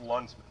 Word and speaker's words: Landsman: It's spelled the Landsman, but it's pronounced Lundsman.